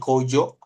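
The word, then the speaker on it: 工場: Jadi kalau mau bilang pabrik, bisa jadi kojo. Nah, jo-nya ini nanti kita belajar juga. Ini dari kanji basho nanti, ba, gitu ya. Yang biasanya basho, baai gitu ya. Nah, ini kalau di belakang jadinya jo, gitu dibacanya. Seperti itu.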